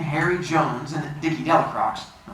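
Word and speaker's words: Delacroix: jones and the dicky delicrocks the builders pronounced his name del croy eventually made a great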